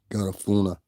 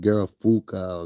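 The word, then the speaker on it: Garifuna: Garafuna. I always have a problem saying that shit. I'd be like Garafuka or Garaf.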